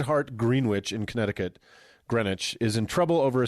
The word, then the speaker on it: Greenwich: Catholic High School in green witch Connecticut and I think I nailed both those pronunciations I think so I think that's exactly right you pronounced all the letters that's how words work that green witch um